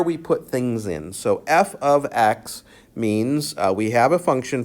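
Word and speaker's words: f(x): function we have function notation so this is pronounced f of x f of x that means a function f composed or made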